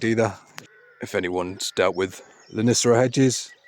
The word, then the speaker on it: Lonicera: If anyone's dealt with Lonicera hedges, Lonicera Nitidas, pileatas and stuff like that, that's how you pronounce it.